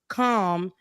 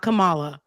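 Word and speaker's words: Kamala: kind of keep her calm and for people who can't pronounce um you know Comm Harris's name calm calm not Camala calm not koala Cal you notice Rebecca on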